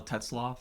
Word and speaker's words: Tetzlaff: So, first thing I'd like to do is just have you introduce yourself, the correct pronunciation of your last name. Absolutely. So, Teslaw.